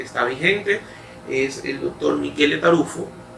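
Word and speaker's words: Michele Taruffo: vigente, es el doctor Michele Tarufo. Generalmente usted lo va a conocer como Miguel Tarufo, pero es italiano, esa es la pronunciación de su nombre.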